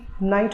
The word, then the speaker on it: knight: Like KNIGHT नाइट होता है और NIGHT भी नाइट होता है.